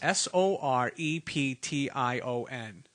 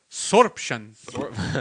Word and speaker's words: Soreption: called spiders and snakes sor EP tion how would you say that sorption sorption yeah okay so if you want to say it like that I guess you can sorta to him yeah sorption all right cool